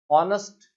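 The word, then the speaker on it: honest: Fred is dash ऑनेस्ट मैन, और ऑनेस्ट शब्द जो है उसका प्रोनाउंसिएशन जो है वो ह नहीं है, ऑनेस्ट ईमानदार औ से शुरू होता है।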